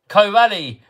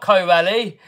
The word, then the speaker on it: Corally: can just flap about where it wants it's pronounced covali not Co rally says stowed Jonah you spelled them both the